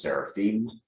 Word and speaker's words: seraphim: temple, and above it stood seraphim, or should be pronounced seraphim.